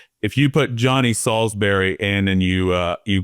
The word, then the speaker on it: Solsbery: And Salsbury is spelled weird. So, you know, s o lsb e r y. It's uh it's like Salsbury Steak, but it's not spelled the same.